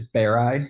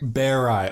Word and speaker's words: Berei: It's Berei. Berei.